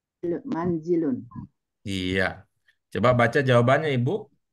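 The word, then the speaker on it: منزل: sudah di sampaikan bahwa kalau dibaca munzilun itu maknanya beda bed kalau yang diinginkan itu kata yang bermakna rumah cara membacanya adalah manzilun Iya bagaimana maksudnya pertanyaan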